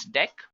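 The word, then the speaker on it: deque: it is written as DQ but we can pronounce this as deck not talking about deck what actually it is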